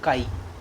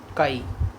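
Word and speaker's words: χ: Mole fraction में यार एक सिंबल होता है जो x की तरह दिखता है, लेकिन इसे प्रोनाउंस करते हैं काई। क्या बोलते हैं? काई।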